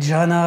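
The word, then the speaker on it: jhāna: Alors, "zen" est une déformation du sanscrit "dhyana" que l'on prononce "Jhana" en pali.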